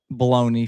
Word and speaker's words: bologna: Um bologna for you guys who who want to say it correctly. But the blogna is delicious.